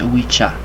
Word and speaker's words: Ouija: So it's pronounced Ouija.